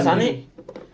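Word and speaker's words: Sané: Kayaknya kan dia koma atas itu baca Sane. Biasanya kalau orang Jerman kalau dia belakangnya enggak ada E, di huruf di huruf kalimat belakangnya itu enggak ada E kayak gitu jadi E bacanya.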